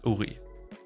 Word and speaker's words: Uri: Pronounced same name as the Korean pronoun of Uri. Ah. So it's Uri. Right. The fandom name is called Uri.